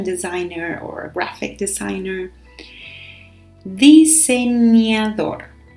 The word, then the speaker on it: diseñador: Diseñador. Diseñador. So pay attention here to the pronunciation of that letter, the ñ.